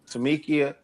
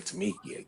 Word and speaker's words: Tamika: Brittany, Sherelle, Tamika. I don't want to say Tamika. Jesus, it's Tamika.